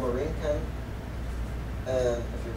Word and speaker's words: Borinquen: First it was called Borinquen, and if you pronounce it in English, if you pronounce it in the Aborigines, and Boriquen, with the accent on the E.